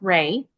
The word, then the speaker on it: Rhea: Um my name is It's actually pronounced Ray.